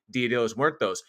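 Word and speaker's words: Día de los Muertos: And happy Dia de los Muertos.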